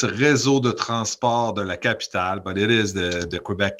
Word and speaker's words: Réseau de Transport de la Capitale: So it's a Réseau de Transport de la Capitale, but it is the Quebec Transit Authority for the Quebec City.